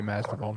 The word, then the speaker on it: Masvidal: His name's pronounced Jorge Masvidal, not George.